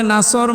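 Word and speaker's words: نصر: যদি মুখটা গোল না করে সিন দিয়ে উচ্চারণ করেন অর্থ হয়ে যাচ্ছে হে নবী যখন শকুন আসবে, ঈগল পাখি আসবে তখন আপনি বিজয় পাবেন।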